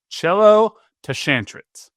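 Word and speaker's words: Cielo Tschantret: Chelo Tashantret is how they say the pronunciation on Sporting Kansas City's website.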